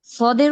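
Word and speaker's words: ص: জিহ্বাটা যেইভাবে ব্যবহার করছি, এই সদের উচ্চারণটাও ঠিক ওই রকম মাখরাজি আসবে। হ্যাঁ, ওই রকম জায়গা থেকেই উচ্চারণ হবে, যে জিহ্বার আগা সামনের নিচের দুই দাঁতের আগার সঙ্গে লাগাবো। কিন্তু এটার উচ্চারণ করতে গেলে একটু মুখটা দেখবেন ভরে আসে।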